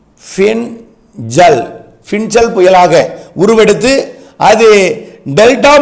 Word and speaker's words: Fengal: தாழ்மண்டலமாகி 26 ஆம் தேதி பின்சல் புயல் அது வந்து fe ஐ என் ஜே ஏ எல் இப்படித்தான் உச்சரிக்கணும் பின் ஜல் பின்சல் புயலாக உருவெடுத்து அது